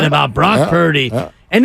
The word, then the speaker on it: Purdy: like the fact that his name rhymes with turdy, so that's why he's not very good.